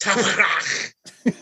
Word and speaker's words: Taxprax: Taxprax. Yeah. That's pronounced Taprach. I thought it was like tax bracket.